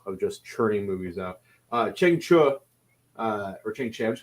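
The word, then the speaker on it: Chang Cheh: Chiang Che's name is pronounced Cheng Chu, which I did not know that.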